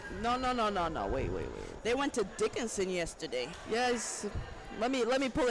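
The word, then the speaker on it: Dickenson: Hickerson? Is that how you say it? Dickerson. No. Wait. They went to Dickinson yesterday.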